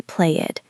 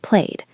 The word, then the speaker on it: played: You don't say play it, you say played.